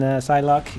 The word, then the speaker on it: Psylocke: I have a video on Psylocke if you want to check her out. In the video, I keep on pronouncing her name wrong.